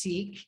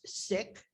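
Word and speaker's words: Sikh: to us did you know seek is not pronounced seek it's pronounced sick that's where i say they're going to come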